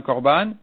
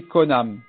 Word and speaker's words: korban: moi interdit comme un korban, il a mal dit le mot korban, il a mal prononcé, il a dit konam.